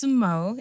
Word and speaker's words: Sunmo: So it's sumo. It's a Yoruba word.